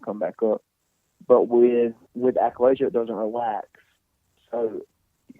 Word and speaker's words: achalasia: And how do you pronounce it first off? Achalasia.